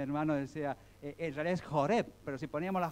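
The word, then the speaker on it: חורב: en los textos como Horeb. En realidad, bueno, la fonética En es hebreo se escribe cultural. Joreb, y con una J raspada, ¿sí? Así, Joreb. Joreb.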